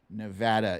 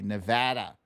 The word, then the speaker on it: Nevada: Nevada is how they say it, not Nevada. Those of us on the coastal elites, we say Nevada, but they say Nevada. It's Nevada.